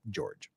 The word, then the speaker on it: Jorge: Yes, I know it's spelled Jorge, but all the detectives, and apparently even his own family called him George, so we're calling him George.